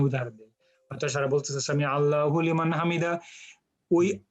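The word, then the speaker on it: سمع الله لمن حمده: normal মানে flow হবে সামি আল্লাহু লিমান হামিদা, কিন্তু নন নেটিভ স্পিকারের কাছে শুনতে মনে হয় যে হুলিমান বলতেছে, কিন্তু আরবদের কাছে অথবা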